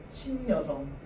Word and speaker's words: 신여성: 니은이 첨가돼야 됩니다. 환경상 니은 첨가 환경이야. 자, 그러면 우리 발음할 때 어떻게 발음할까요? 신여성이라고 발음한다. 신여성. 여성. 자, 그런데 녀라고 발음이 돼요.